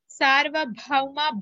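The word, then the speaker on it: सार्वभौम: Sarvabhauma bha is Mahaprana.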